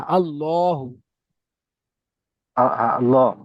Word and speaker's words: আল্লাহ: আল্লাহ হবে না, আল্লাহ। আল্লাহ, আল্লাহ। হ্যাঁ, হু হবে না, শুধু হা হবে?